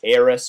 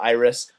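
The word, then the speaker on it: Iyriss: I've heard it pronounced both ways, Eris or Iris.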